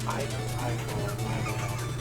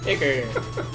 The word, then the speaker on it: ichor: No, don't drink It's pronounced Ichor. Icker.